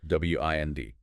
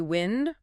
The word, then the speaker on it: wind: W I N D can be wind rhyming with send. That's the noun. Moving air. Or wind rhyming with find. That's the verb meaning to turn or coil something like winding a clock or a string.